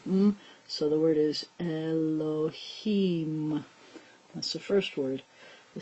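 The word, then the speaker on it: אלהים: it sounds like hmm so the word is Elohim that's the first word the second word has this open in all direction silent letter with this vowel which sounds like yeah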